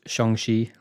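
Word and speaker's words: Shang-Chi: we got the trailer for shang chi it's pronounced shangshi thank you very much ryan you're you're welcome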